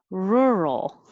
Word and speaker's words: rural: Rur is weird. It's like her, like me and her, but with an R at the beginning.